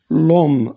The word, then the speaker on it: l'homme: L'homme, on ne prononce pas H, c'est un H muet.